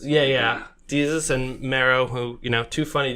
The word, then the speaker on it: Desus: Boys pop-up shop with, is it Desus? Is that how you pronounce it? Jesus. Like Jesus. Yeah. Desus and Mero, who, two funny dudes.